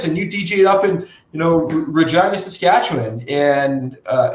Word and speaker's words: Regina: up in you know regina saskatchewan and uh it's actually named regina and that's how you pronounce it just regina not regina just fyi uh um but you